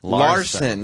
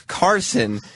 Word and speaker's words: Karson: Wait, they were mispronounced? I didn't even get it. Larson. Not great, because his name's Karson.